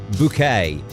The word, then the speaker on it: Bucket: it's about a snobbish lady called Hyacinth buckets pronounced bouquet uh Hyacinth bouquet is married to Richard bouquet